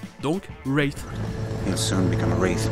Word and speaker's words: Wraith: Et on retrouve aussi le TH pour Wraith, avec en plus un W qui est muet. Donc, Wraith.